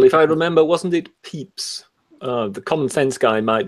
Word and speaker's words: Pepys: The name is written P-E-P-Y-S, but I think it's pronounced Pepys.